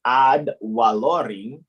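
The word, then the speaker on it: ad valorem: to value taxation because odd wa lorry because in the latin the v is pronounced like the w ah taxation and then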